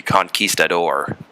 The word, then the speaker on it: conquistador: that we one we would know would be conquistador go ahead and spell that out uh c-o-n-q-u-i s the door yeah